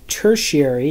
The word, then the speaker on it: tertiary: And then you have a tertiary, is how you pronounce this word, tertiary consumer.